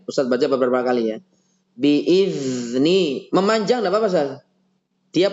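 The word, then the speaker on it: بإذن الله: Coba dipanjangin. Biar tidak ada pantulan. Biizni. Bukan biizni.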